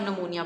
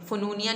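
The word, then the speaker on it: pneumonia: Severe जो है पी को साइलेंट कर दें और नमूनिया पढ़ना है आपने, फनूनिया नहीं पढ़ना है इसको, जो है सवेयर नमूनिया पढ़ना है।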